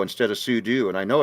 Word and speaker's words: sudo: got you I also say I also say pseudo instead of sudo and I know it's super user do it's like technically Sudo is more correct but I don't know I just say pseudo same it's pseudo um now I literally have